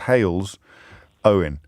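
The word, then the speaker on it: Halesowen: don't know that my colleague today knows where hail's own is because she has very helpfully put hail's own brackets pronounced hails owen closed brackets and has to given that i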